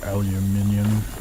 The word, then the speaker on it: aluminium: cuz I feel like if it's supposed to end with a nim sound, there should be an i at the end there and there is Not in here.